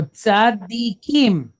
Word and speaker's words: tzadik: So this first syllable goes from being tza to tzad. Then we're going to pick up the second dalet and the kirik yod. Dik, tzadik, or tzadi, right?